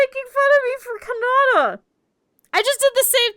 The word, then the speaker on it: Kannada: No, see, she would have always said it ka. So it would have come out with like a O. Not Canada. Kannada, right?